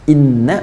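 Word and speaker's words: إِنَّا: ya inna ilaihi roji'un Inna pakai tahu kan bacanya pendek bukan ini tapi Inna Inna Ila robbika Roja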